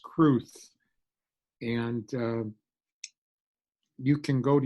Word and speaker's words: crwth: The W is pronounced like a U, so it would be pronounced Cruth.